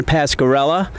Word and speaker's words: Pascarella: new coach of the Des Moines Menace, John Pascarella.